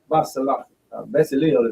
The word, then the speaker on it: Bezalel: So the same then Aholiab and Bezalel is what his name is pronounced here.